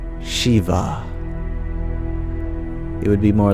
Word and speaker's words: Shiv: perfectly pronounce it like Shiva. It would be more like Shiv. The E sound becomes I, and the final A is dropped, so it becomes Shiv. Shiv.